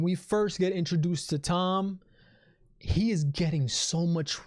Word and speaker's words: Thom: lyrics of that song great fantastic lyrics so tom is getting so much respect and i'm calling him thumb his name is thom all right you're pronouncing